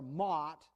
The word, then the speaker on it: mot: The word mote here, or mot, it's kind of a strange pronunciation in Hebrew, mot, means immovable, unshakable, untoppable,